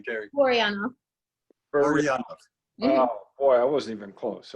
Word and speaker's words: Terri Buryanov: go ahead give us well how do you pronounce your name jerry mariano boy i wasn't even close okay i don't